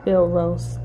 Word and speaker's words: Field Roast: Field roast.